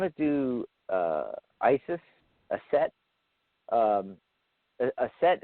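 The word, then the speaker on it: Aset: do Isis a set a set is actually the Egyptian pronunciation Isis is the Greek Greek pronunciation of a set and you know with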